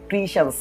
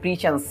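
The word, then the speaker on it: patience: করবে উচ্চারণ করে সুন্দর করে পড়বে এটা হচ্ছে উচ্চারণটা হবে প্রিশেন্স প্রিশেন্স কেমন মনে রাখবা পি এটি টি আই ই এন সি এ প্রিশ্যেন্স কেমন অর্থাৎ তারা ধৈর্য এটার অর্থ এন্ড এবং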